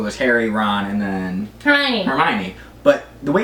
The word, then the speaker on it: Hermione: Like when I read the books, for example, so there's Harry, Ron, and then Hermione. But the way it's spelled, and I guess I was a kid, you know, when you read to yourself, I always said Hermione.